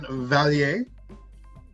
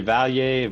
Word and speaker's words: Valier: Introduce our special guest today, Valier. How you doing? He is French, so am I pronouncing it correctly? Yeah, you're good. You can say Valier, Valley, Val, doesn't matter.